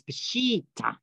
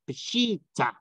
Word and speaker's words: Peshitta: But it's Peshitta, which means simple, direct, pure, original. That's what that means in the Aramaic. So that's how you pronounce it, Peshitta.